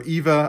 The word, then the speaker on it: Eva: could see ever or Eva I say ever but her permanent the correct prints and pronunciation would be Eva I've just always said Ewa because you know Florida got that accent okay this is a